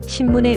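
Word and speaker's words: 新聞: 예를 들어 응 다음에 바파 마행의 글자가 올 때는 입술을 붙여서 미음처럼 발음하는 경향이 있습니다. 신문의 응은 미음처럼 발음되고 산책의 응도 미음처럼 발음됩니다.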